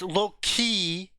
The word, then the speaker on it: Loki: did you pronounce Loki say it right it's low-key well at least he